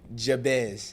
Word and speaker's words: Jabez: All right, y'all, because the announcer be saying his name wrong to us. How? Okay, so Jabez.